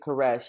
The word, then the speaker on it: Koresh: cyrus which is spelled which is spelled like caress gotcha and now that